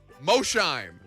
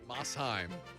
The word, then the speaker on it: Mosheim: would say at seder am i looking at mosheim tennessee no no it's mossheim of course it is now